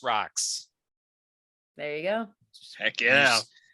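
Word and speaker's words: Rock5: It's Rock 5, pronounced rocks.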